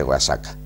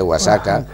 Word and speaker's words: Oaxaca: es la ciudad de guasaca en la catedral de guasaca hay Oaxaca Perdón un poquito y sabe que es la pronunciación de la x y de la J E igual en el Castellano antiguo efectivamente en la ciudad